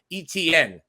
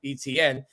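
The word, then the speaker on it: Etienne: years um and then a freshman uh trevor etn that's the pronunciation i'm proud to be able to say now etn his brother uh plays for the jacksonville jaguars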